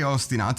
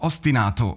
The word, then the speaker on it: ostinato: So ostenato because I'm Italian I'm ostenato not to pronounce it correctly as they do but they they changed the pronunciation.